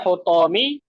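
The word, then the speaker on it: حطام: Bacanya hutomi. Sudah dicek? Belum? Belum, Sudah? Ustaz. Belum? Belum. Belum. Coba cek. Pastikan hu atau ha atau hi. Jawabnya hutomi. Betul, Hasan.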